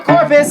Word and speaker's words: Corpuz: me his last name rhymes with porpoise. He's the star of King and I. It's Jon Viktor Corpuz.